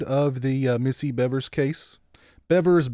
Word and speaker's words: Bevers: the missy bevers case bevers beavers i've heard it pronounced different ways i'll probably pronounce it both ways tonight beavers bevers um but um i do believe it's i do believe it's beavers but is anybody here